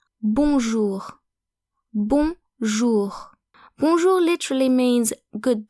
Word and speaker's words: bonjour: If you want to sound more French when saying bonjour, remember that O and N create a new vowel sound. So basically the N in bonjour is not pronounced like a consonant. Bonjour, not bonjour.